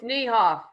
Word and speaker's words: Niehoff: It's Niehoff.